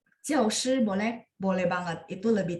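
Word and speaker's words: 教师: 我们学校有 15 个教师, boleh? Boleh banget. Itu lebih tata bahasa. Itu perbedaannya ya. Jadi begitu muncul kosakata ini, pasti kudu harus dibaca nada 4 karena dia adalah kata benda.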